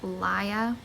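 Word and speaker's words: Laia: look up the pronunciation it is liar and it is elias so it's always the i sounding pronunciation so yeah what have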